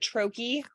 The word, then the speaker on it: troche: in troche format and I hope I'm pronouncing troche some people call it Church some people call it troki um basically it's the